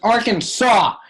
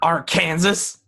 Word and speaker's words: Arkansas: no he was like no thunder it's arkansas get it right new not our kansas you know get it